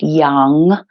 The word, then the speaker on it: yam: to our heart and that is yum y a m but again pronounced Young and again you the